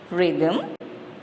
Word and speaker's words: rhythm: Autumn, column, guard, rhombus, rain, G is silent, sign, G is silent, chord, H is silent, rhythm, H is silent, ghost, H is silent.